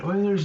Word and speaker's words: Euler: So the ingredient here is something, first off, called Euler's number. And it's pronounced "oiler", like as in the Houston Oilers, but spelled E-U-L-E-R. And Euler's number is represented with